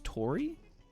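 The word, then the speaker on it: Taurie: I am scared of one of how do you say her name? Tora Kane? I believe it's Tori. Is what I believe it's supposed to be pronounced.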